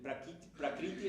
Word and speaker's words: Prakriti: El Purusha es el espíritu y el Prakriti es la materia.